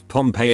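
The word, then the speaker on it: Pompée: Pompey is Pompeii in French and its pronunciation is identical to Pompeii, which means pumped.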